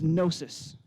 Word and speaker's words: gnosis: he specifically uses is gnosis with a silent g at the beginning the name that this